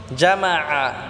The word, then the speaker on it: জামাআ: জামাআ, এখানে আইনটাকে আমরা গলায় চাপ দিয়ে উচ্চারণ করব। আল্লাযী জামাআ বললে হবে না, জামাআ।